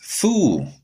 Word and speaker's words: FOO: I like that name because if you just pronounce the initials, it's Foo.